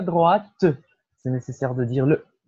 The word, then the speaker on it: droite: On a tourné à droite. Je ne connais pas le nom de la rue, mais il y a un café au coin. Oui. On a tourné à droite. C'est nécessaire de prononcer le T.